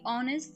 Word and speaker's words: honest: It's all and also if you if you listen to the word honest to be honest the letter H they don't pronounce it honest not honest